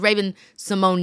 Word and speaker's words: Raven-Symoné: of the fact that everybody in the world has been pronouncing your name apparently incorrect? Like Raven, we didn't know that it was Raven Simone.